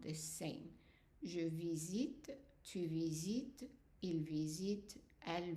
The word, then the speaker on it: visite: Because whatever comes after the T is silent, whether it's an E, just an E, or an ES, both of them are silent, which means that they are going to be pronounced the same way.